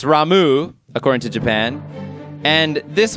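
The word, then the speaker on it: Ramuh: It's Ramu, according to Japan. And this one is not a pronunciation controversy, just Crusader is obviously Crusader.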